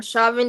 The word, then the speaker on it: Chauvin: should pardon Derek I don't know how to pronounce that Rick man last Chauvin. name. Chauvin. Derek Shaw. Yeah, Chauvin.